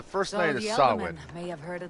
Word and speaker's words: Samhain: I'm like, that's not how that's pronounced. It's an old, I believe it's Gaelic. And it is pronounced Samhain.